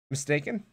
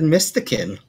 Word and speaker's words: Mistaken: That's how you pronounce his name. Mistaken? I always said Mystikin.